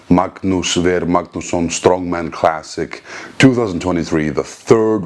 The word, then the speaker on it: Magnús Ver Magnússon: my experience with the Magnus where let me say it correctly in Alantic Magnus ver magnos strongman classic 2023 the